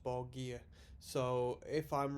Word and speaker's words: Borgir: how it's pronounced but someone a fortunate commenter said it's pronounced ball gear so if i'm wrong